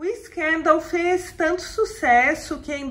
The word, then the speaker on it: Scandal: outro vídeo é que na campanha publicitária a pronúncia usada pela Jean Paul gaultier é escândalo mas a imensa maioria fala Scandal eu mesma me habituei a falar Scan dão isso ocorre porque a palavra é escândalo tem a mesma grafia no francês e no inglês no entanto a pronunciar é diferente em cada idioma escândalo em francês Scandal em inglês um escândalo ou declara